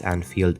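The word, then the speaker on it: Annfield: you're all confused but this anfield is spelled with two ends and is based in the city of Sterling but it still sounds like the non-union equivalent of anfield Road Alban's nickname is the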